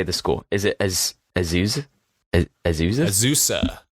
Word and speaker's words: Azusa: do you say the school is it as azuz azusa azusa wow i think it's literally the city so